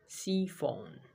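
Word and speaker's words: chiffon: दूसरा एग्जाम्पल कफन, कफन नहीं बोलेंगे इसको, क्या बोलेंगे हिंदी में, सीफोन। क्या बोलेंगे, सीफोन। इसका अर्थ हो जाएगा बारीक कपड़ा। सी एच का उच्चारण क्या हो जाएगा, सो, सीफोन। ये उच्चारण पे ध्यान देंगे।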